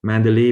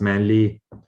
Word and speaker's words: Mandalay: So Mandalay becomes Manly, Molamyai becomes Momyai.